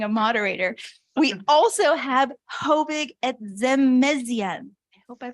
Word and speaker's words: Hovig: We also have Hovig Etzemezian. I hope I pronounced that okay. Is it, please, how would you pronounce it? Hovig, thank you.